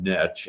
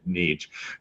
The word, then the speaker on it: niche: up by the way it was called niche and then the last I don't know five seven years a changed to pronouncing it neech either way actually it's okay but I'm gonna use